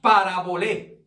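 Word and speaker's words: παραβολή: Entonces, la palabra parábola en su lenguaje original, que es el griego, significa parabolé. Amén. Parabolé. Amén. Con acento en la E al final.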